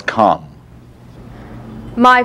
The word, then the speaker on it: calm: is called number five ah as in Far father or calm calm commonly mispronounced as my father was Cal my father was calm my